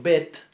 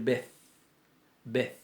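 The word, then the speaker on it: בית: están sustantiva 2 entonces yo por ejemplo a veces digo bet pero según la pronunciación del hebreo bíblico se tendría que decir vez vez porque porque el ataúd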